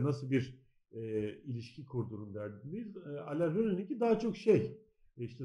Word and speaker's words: Alain Resnais: Evet yani daha çok hafıza üzerine düşündüren bir film ama tabii şey de yani Alain Resnais'in de hani böyle okunuyormuş hani ben Fransızca öyle okunuyormuş.